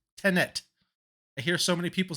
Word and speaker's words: Tenet: Not Tenant. There's not two T's, just Tenet. I hear so many people say Tenant. Tenet.